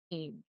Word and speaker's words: Ng: And he said cheetah pronounced cheetah just in case there was any confusion and pronounced ing.